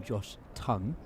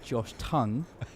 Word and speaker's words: Tongue: 2023, everyone called him Josh Tongue. In 2025, he's become Josh Tong. I believe he pronounces it Josh Tongue. So, I think it's just pronounced how you say the word tongue.